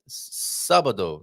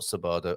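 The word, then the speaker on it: sábado: uh but don't worry sabado not sabardo okay so there i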